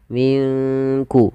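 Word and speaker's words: مِنْ كُلِّ: Min kulli fakihatin zaujan nun mati ketemu Kaf di sini kita namakan dengan bacaan Ikhfa maka cara membacanya samarkan nunnya kepada huruf Kaf minkku langsung kepada makhraj huruf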